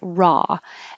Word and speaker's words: raw: up about the word raw and it's spelled r-a-w and the vowel is ah like awesome raw and this word can